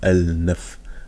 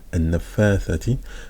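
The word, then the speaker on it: النفاثات: C'est pour ça qu'on dit An-Nafa. On dit pas Al-Naf. An-Nafathati.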